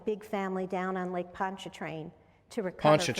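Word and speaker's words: Pontchartrain: Maybe here on Lake Erie was helping my big family down on Lake Poncha Train to recover.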